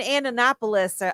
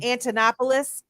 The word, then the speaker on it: Antonopoulos: the space him and andonopoulos I always say his name wrong those two I was listening to a lot you know I'm talking about um Antonopoulos that guy super smart